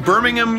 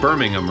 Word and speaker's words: Birmingham: It's in Birmingham, UK. Mm-hmm. I think I pronounced that right. Birmingham, right?